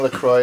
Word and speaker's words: LaCroix: a turn on this device the first thing Lacroix is correct you got consensus among the chatters at least alright it's pronounced placing goddamn Silent Hill good answer I'm